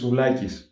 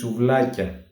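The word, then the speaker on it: σουβλάκια: You will find it everywhere, especially with souvlakis, especially with souvlakia, to say it correctly.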